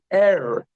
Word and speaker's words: er: So the Hebrew word for he is er. Er. Okay, so er, it's like E-R or E-H-R, however you want to spell it, er.